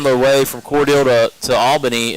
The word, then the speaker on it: Albany: I heard you say Albany earlier. You know, here in South Georgia, it's Albany, Brett. Albany. Albany. Okay. We're not a capital out of New York.